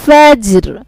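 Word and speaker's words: فجر: ওয়াল ফাজর ওয়ালায়ালিন আশর والشفع والوتر والليل إذا يسر هل في ذلك قسم لذي حجر। দেখেন সবগুলো শেষে কিন্তু র আছে, রটা কিন্তু উচ্চারণ হবে ওয়াকফ করে, ইয়াসর, আশর,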